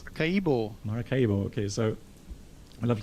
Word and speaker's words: Maracaibo: How did you pronounce that again? I can't remember. It's Maracaibo.